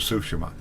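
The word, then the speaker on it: Tsushima: All of that being said, I absolutely loved Ghost of Sushima. Now the reason I'm pronouncing it that way is because that's the way it's pronounced in the game.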